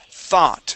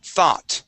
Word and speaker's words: thought: all right and saying thought thought try that t t okay let's take a look here so when we pronounce the th sound you want to put your tongue between your teeth here you're saying TT